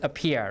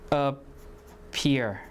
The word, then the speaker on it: appear: So it is aspirated or not? Aspirated. So appear, like that. So we put the H here, okay? Appear, right? Appear.